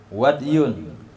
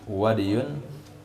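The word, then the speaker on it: وَدْي: kemudian najis lagi Wadi wadyun bacanya dengan sukun Dal muhmala sakin Dal yang tanpa titik wadiun Kal bauli sama dengan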